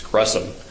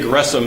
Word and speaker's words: Gresham: Gresham is the correct pronunciation, not Gresham, even though it's got an H, it's Gresham. J. Gresham Machen who lived from